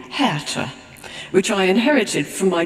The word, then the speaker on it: Hertha: my German grandmother but the name is spelled h-e-r-t-h-a like Bertha with the first letter changed and I realized that English people were pretty much bound to call me hertha and that I just